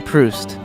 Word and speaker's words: Proust: Modern Proust.